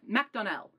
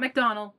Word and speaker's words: McDonnell: mack mcdonnell nick mcdonnell that's how he pronounced it macdonnell it's not mcdonald mcdonnell i discovered it